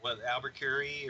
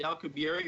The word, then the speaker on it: Alcubierre: And, Well, we got Albuquerque, or however that's pronounced. say Alcubierre or Alcubierre.